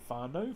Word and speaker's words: whānau: So some might say whānau for family, some might say wānau instead.